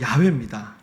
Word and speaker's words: 야훼: 근데 사실 이 발음이 틀렸어요. 정확한 발음은 야훼입니다.